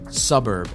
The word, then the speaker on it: svbrb: link dot to slash suburb and that's spelled the word suburb but swap out the u's for v's so it says svbrb so that's fan link